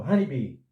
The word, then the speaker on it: honeybee: E o H inicial não é mudo aqui, é pronunciado. Então, honeybee.